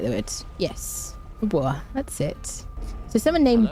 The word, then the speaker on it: Dubois: Dubois is a French name. Yeah, it doesn't have an E on the end. Yeah. Yep. But if it did have an E on the end, you would pronounce the S.